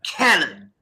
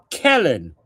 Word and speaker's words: Kellen: So it rhymes with melon.